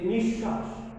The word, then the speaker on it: নিঃশ্বাস: তারপরে আমরা দেখছি যে আমাদের উদাহরণে যে নিঃশ্বাস, কারণ এখানে দেখো তোমরা একটু খেয়াল করো যে এই তালব্যর সাথে কিন্তু বফলা যুক্ত হয়েছে, তালব্যর সাথেই বফলা যুক্ত হয়েছে। সুতরাং এই তালব্যটা দুইবার উচ্চারণ হচ্ছে, এটা একবার, এখানে একবার, দুইবার।